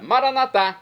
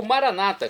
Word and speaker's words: Maranata: hein Deus hum manado eu clamo agora maranat como dizemos nós católicos ou Maranata como dizem nossos irmãos separados os evangélicos ou protestante não importa a pronúncia o significado é o